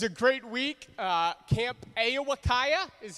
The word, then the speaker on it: Ao-Wa-Kiya: out it was a great week uh camp a iwakaya is how you say it for those of